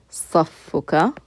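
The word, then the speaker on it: صفك: So the word saf has a shadda in it. That's why you're pronouncing the fa twice. You just pronounce that last letter fa with the dhamma, just like we pronounce this ba here with the dhamma, and then you attach that pronoun.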